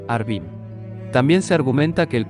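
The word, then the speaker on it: ערבים: de igual manera pero tienen distinta pronunciación cuervos orvin y árabes harbín también se argumenta que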